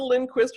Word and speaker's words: Lindquist: I pronounced it wrong when I asked her, and I did it again. Marsha Lindquist with Granite Leadership Strategy.